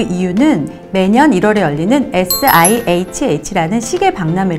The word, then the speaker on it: SIHH: 하나의 단어로 생각하신 거예요 그런데 sihh 가 줄임말 이기 때문에 시신 절대 그렇게 발등 하시면 안되고요 sihh 라고 발음을 하셔야 합니다 sil 제츠 는 매년